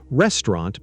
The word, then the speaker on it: restaurant: Restaurant becomes restaurant. The middle sound gets shorter.